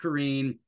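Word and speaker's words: Corinne: is Karen it looks like Karin but it's pronounced Karen and and her nickname is Connie so let's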